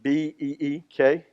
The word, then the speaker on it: Buechner: This is Frederick Buechner. If you were trying to do syllables, it would be Beekner. Must be German.